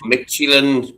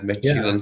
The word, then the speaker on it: Midtjylland: It does not look like it says Midtjylland, does it? Like you'd say you'd say something different, but Midtjylland is apparently how you pronounce it, yeah.